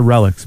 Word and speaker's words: Relix: Is it Relix or Relics magazine? It's pronounced Relics.